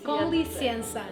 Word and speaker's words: com licença: con licenza. Yes, com licença.